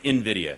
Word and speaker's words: Nvidia: Pretend there's an I. Nvidia. Yeah, Nvidia. Sorry. Okay. And and the whole AI craze, right? So, did Nvidia impress or depress investors with its earnings report last night?